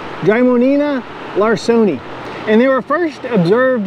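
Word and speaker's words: Drymonema larsoni: Their scientific name is kind of hard to pronounce, but it's Drymonina larsoni.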